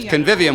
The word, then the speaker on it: convivium: curious how to say it so thank you convivium which is Latin for the feast the feast